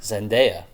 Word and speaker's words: Zendaya: you're correct according to her on YouTube she pronounces her niece zendaya wait what'd you say oh yeah I've already